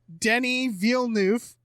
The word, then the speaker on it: Denis Villeneuve: Shout out to Dune's director is pronounced Denis Villeneuve.